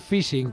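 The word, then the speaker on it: phishing: Y conviene comentar que el fishing que así se pronuncia realmente no solo afecta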